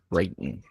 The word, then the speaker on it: Creighton: Creighton and or Crichton. You have to figure out how to pronounce that properly. Creighton. Creighton. Yeah, Creighton. I've got them.